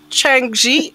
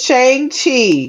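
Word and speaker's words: Shang-Chi: ] up you mean changji and the 10 rings is that what you're talking about right now wait that's how you say it shang chi chang chi yes my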